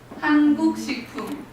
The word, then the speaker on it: 한국식품: So if we pronounce it, it's 한국식품. Basically, 한국 is Korea in Korean language, and 식품 is food, so it means just Korean food.